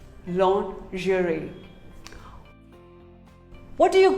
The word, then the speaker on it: lingerie: is pizza pizza pizza here's another commonly mispronounced word lingerie well most of us call it lingerie no it is not lingerie it is actually called lingerie say lingerie long jury what do you call